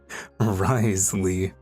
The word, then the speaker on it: Wriothesley: So basically, he has 4 silent letters in his name. Wriothesley.